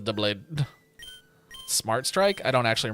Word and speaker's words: Doublade: I've always pronounced it Dowblade, but it's spelled like Doublade, so... Dow sounds better, but I think you would actually pronounce it as Doublade.